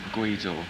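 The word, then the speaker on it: Gweedore: So when you go home to Guido, sorry, that could be pronounced completely wrong. That's Guido, yeah.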